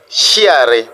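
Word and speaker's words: sciare: Nous avons aussi la combinaison de S plus C qui donne le son CH. Par exemple, nous avons chiare, scier. Voyez, chiare, scier.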